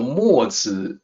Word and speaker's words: Mozi: So Mozi is the name, and Mozi is how it seems to sound when phonetically transliterated.